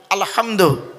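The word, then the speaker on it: الحمد: বাপ আলহামদুলিল্লাহি রাব্বিল আলামিন আলহামদু আমার মা বোনেরা ভালো করে ফলো করুন আলহামদু আলহামদু হায় হুটি হায় হাউয়াজ নয় গলার ভেতর থেকে হে এটা উচ্চারণ করবেন আলহামদু আলহামদুলিল্লাহি রাব্বিল আলামিন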